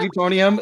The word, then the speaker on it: Utonium: I'm gonna assume that is pronounced Utonium. Yeah. Professor Yeah? Utonium, Yep.